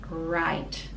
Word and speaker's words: write: card i write i write so w is silent i write i write